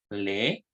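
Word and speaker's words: לְ: Así se pronuncia, le.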